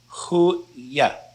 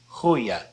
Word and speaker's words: goeie: And now the word is pronounced with a Y sound right here, a Y sound. So, goeie, goeie.